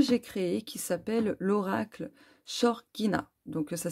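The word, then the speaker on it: Xorguina: Et celui-ci, c'est aussi un oracle que j'ai créé qui s'appelle l'oracle Shorgina. Donc ça s'écrit X-O-R-G-U-I-N-A.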